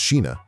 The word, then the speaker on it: Scheana: Scheana Shay, pronounced Sheena, actually confirmed in her memoir, My Good Side, that she hooked up with Shane West too.